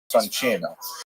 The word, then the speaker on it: Soncino: I will probably Cino because I was born in North America, but it is in situ it would be pronounced Soncino.